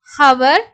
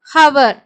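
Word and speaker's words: hour: வரும்போது வந்து சைலெண்ட் ஆகும் எக்ஸாம்பிள் வந்து ஹவர் ஏர் ஹானர் ஹானஸ்ட் ஹவர் சோ இங்க வந்து ஹச் சவுண்ட் இருக்கற மாதிரி இருக்கும் ஆனா அங்க ஓ வோட சவுண்ட் தான் நம்ம வந்து கொடுப்போம் ஓகே சோ இந்த மாதிரி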